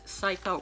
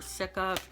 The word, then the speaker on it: Cica: So these are the invisible acne patches with tea tree plus Cica or Cica. I've heard people pronounce it both ways.